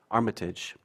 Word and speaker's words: Armitage: The appellant is the property owner, Thomas Armitage. Is that the correct pronunciation? Armitage.